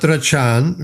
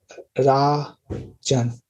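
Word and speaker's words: राजन्: We said last time, I said when there's a line over the A, the stress is on ZA. You read Rachan, that sounds like the stress is on the second A, but the stress is on the first A.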